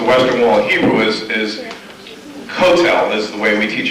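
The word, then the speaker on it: Kotel: between ashas and SPID is like instead of pronouncing for instance the Western Wall Hebrew is is cotel is the way we teach our kids to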